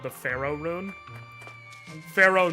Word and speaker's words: Phero: called the Pharaoh rune Pharaoh not spelled like Egyptian pharaoh Pharaoh like pheromones p h e r o um most